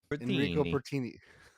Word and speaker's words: Enrico Bertini: say it like you'd say it back in Italy. Enrico Bertini.